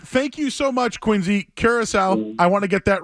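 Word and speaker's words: Curaçao: I kept calling it Caraco, and I apologize to everybody in Curacao. Soft C. That's right.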